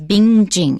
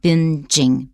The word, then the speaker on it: binging: watching too much tv make sure that when you look at that ng that you don't pronounce it as bing jing it's not being it's been he joses i've been home in funky like binging binging usually when you see